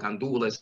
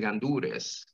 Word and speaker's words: gandules: Something that I want to mention here is that I heard about gandules and gandures, and the pronunciation is right either way. It depends where in the island are you from.